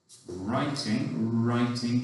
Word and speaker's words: writing: I liked drawing and writing, tricky one with a silent W at the beginning, and then stories with that E's sound at the end, I-E-S.